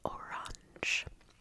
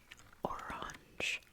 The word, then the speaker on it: Orange: different L it's pronounced orange orange oops orange orange orange so it's a little bit more like I kind of think of it like having an sh on the end Orange um yeah but